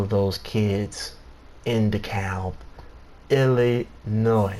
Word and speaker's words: Illinois: here says Illinois it's Illinois okay the S is silent yeah yeah Illinois That's